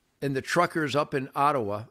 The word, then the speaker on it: Ottawa: the truckers up in ottawa otawa based on the ojibwe pronunciation great amer great native